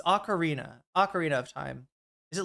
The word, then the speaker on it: Ocarina: Uh the the Zelda she was playing the um Orico or Chad, I can never pronounce this one. Orunnino of time. Is that how it said? Ocarina. Ocarina of time.